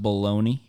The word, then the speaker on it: bologna: wonder why it's pronounced baloney when it's b-o-l-o-g-n-a baloney well obviously the g is silent but like baloney like